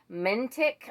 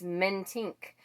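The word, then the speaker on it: Mentink: is dana or dana mentic i've been saying diana i finally looked at that and thought oh my goodness actually it's not even mentic it's men tink so i think it's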